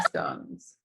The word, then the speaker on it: scone: Scones or scones. It's scones because that's how it's spelled. And don't bring up stones because English has no rhyme or reason.